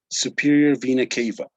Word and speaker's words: superior vena cava: here we were talking uh yesterday about the superior vena cava okay that is the pronunciation superior vena cava that well do you know what the superior